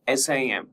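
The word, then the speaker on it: SIEM: Merging security information management that is SIM and security event management SEM and pronounced SIM with a silent E.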